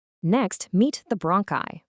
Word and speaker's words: bronchi: Next, meet the bronchi, pronounced bronchi.